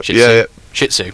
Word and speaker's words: Shih Tzu: I'm not too sure it's spelt, but it's spelled SHIH and then space TZU, so it's Shih Tzu. Yeah. Shih Tzu.